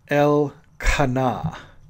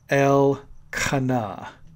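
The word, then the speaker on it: אל קנא: a jealous God and the Hebrew is pronounced L kana L kana and it is a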